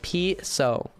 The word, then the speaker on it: piso: How do you pronounce piso? It's like piso.